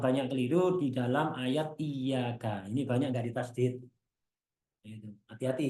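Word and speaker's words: إِيَّاكَ: Iya-nya ditasdid. Banyak orang bacanya iyyaka na'budu wa iyyaka nasta'in. Tidak ada tasdidnya sama sekali, nggak sah.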